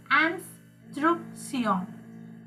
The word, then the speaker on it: instructions: It's instruction. Instructions. No. Ans. Pronounce after me. Instruction. Correct. So instruction. Basically, you are not pronouncing last S.